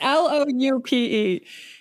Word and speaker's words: loupe: Like loop. How do you pronounce that? Loop? Do you know what I'm talking about? Like the jeweler's thing. Lupe Fiasco? No, that I know how to pronounce. It's Loupe.